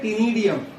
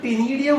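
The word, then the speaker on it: ctenidium: Word use करते हैं टीनिडियम। Singular is टीनिडिया और वी कॉल्ड इट टीनिडियम। तो जो टीनिडियम वर्ड होता है सी silent, that is for respiratory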